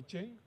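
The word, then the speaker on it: Qian: In China, Q is pronounced as C-H. So it's Q-I-A-N, but it's Chen.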